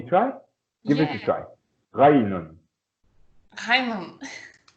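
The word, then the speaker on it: غين: So if you look at me now, if you wanna try and pronounce this letter correctly, I think it comes from here, somewhere in the throat, right?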